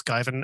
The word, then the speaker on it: Giyvin: The only major presence I have online would be my DeviantArt, which it's not overly upkept, but is Guyvin at DeviantArt, GIYVIN.